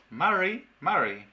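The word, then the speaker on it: mari mari: no pronuncia bien porque la pronunciación correcta es marí marí marí marí entonces es una r tal cual como ejemplos en inglés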